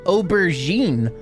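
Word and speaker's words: aubergine: Wait, how the hell is that pronounced? Aubberen. What? Excuse me. Oberine. Oh, Oberine.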